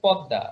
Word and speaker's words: পদ্মা: পদ্মা, ইংলিশে তো উচ্চারণ অনেকে যাই করো, বাংলায় হচ্ছে পদ্মা, মানে এম এর উচ্চারণটা আমরা দর নিচে ম দিয়ে যেমন করি, ওইটা তো হচ্ছে বাংলায় পদ্মা হয়ে যায়, ঠিক আছে।